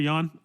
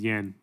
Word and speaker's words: Jan: See you later, Jan. He says, yeah, go grocery shopping. By the way, I'm pronouncing his name correctly for anyone that thinks it's Yan.